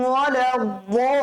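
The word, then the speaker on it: الضالين: গায়রিল মাগদুবি আলাইহিম গায়রিল মাগদুবি আলাইহিম ওয়ালাদ-দাল্লিন। এখানেও কিন্তু জলিম পড়ি আমরা, জলিম পড়া যাবে না। কি পড়তে হবে স্যার? বলিম পড়তে হবে, হ্যাঁ, দ দিয়ে উচ্চারণ করতে হবে ইনশাআল্লাহ।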